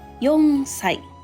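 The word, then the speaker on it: 四歳: There are 2 readings for 4, shi and yon. When expressing age, 4 years old equals 4歳 is the correct pronunciation.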